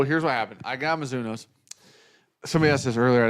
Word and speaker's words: Mizuno: I hit Pings, 2 different versions of Pings, 2 different versions of the Mizunaras. Nope. Mizuno's.